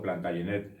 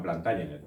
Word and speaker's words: Plantagenet: Bien, el origen de la dinastía es francés y por tanto Plantagenet está perfectamente dicho. Sin embargo, si por algo es conocida esta familia es porque durante 300 años fueron reyes de Inglaterra. Este libro es Historia de Inglaterra. La mayoría de las fuentes que yo he utilizado son inglesas y ellos pronuncian Plantagenet, así que yo pronunciaré Plantagenet, aunque, como digo, Plantagenet es igual de correcto.